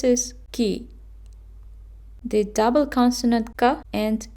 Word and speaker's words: 가: It's ka. And this is how we got the syllable. We added a to the consonant k and we got ka.